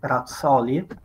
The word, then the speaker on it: Razzoli: In case someone is curious, my surname is pronounced Razzoli, but I understand that this sounds very unnatural for anyone who's not Italian, so feel free to pronounce it as you prefer.